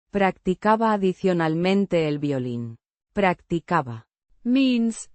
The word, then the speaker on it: practicaba: The imperfect tense indicates an ongoing or habitual action in the past pronounced Practicaba. with the stress on the second syllable. The B. is a soft B. sound.